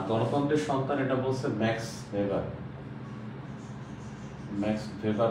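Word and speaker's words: Weber: আমরা অনেক সময় দেখি ওয়েভার লেখা আসলেটা হবে ভেভার ম্যাক্স ভেভার এটা ডিডব এটা কি এ ডয়েস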